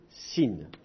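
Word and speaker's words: שׂין: je changer de couleur si le point est à gauche il faut le prononcer sin donc ça c'est déjà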